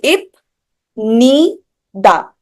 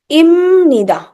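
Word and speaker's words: 입니다: ठीक है, then what about this is, अगर आप अकेले अकेले पढ़ोगे तो ई प इप नी दा, इपनीदा, that is wrong pronunciation. Pronunciation क्या होगी इसकी, इमनीदा।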